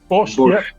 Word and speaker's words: borscht: Borscht. Yeah. Is that right? Correct. That's not a bad pronunciation either.